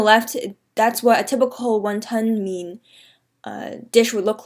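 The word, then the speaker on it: 雲吞麵: So to properly say wonton noodles in Cantonese, you would say won ton mean, not mian but mean,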